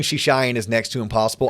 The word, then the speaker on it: Srichaiyan: She, like the girl. Wrote it on my window. Shy, like you. And like the girl's name. Srichaiyan.